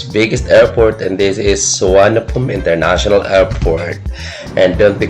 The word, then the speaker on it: Suvarnabhumi: but it's not as how it is being pronounced the moment you're in Thailand, but we call it Suvarnabhumi International Airport.